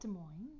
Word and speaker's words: Des Moines: You pronounced it well. Des Moines. Yeah, because people want to say the S's all the time.